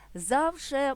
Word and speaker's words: завше: мовної традиції тощо друзі зверну вашу увагу на наголос слів завше має лише один варіант наголосу на перший склад у прислівника завжди голос